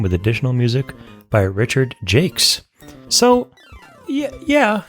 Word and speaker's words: Jacques: Oh, he pronounces it Jakes.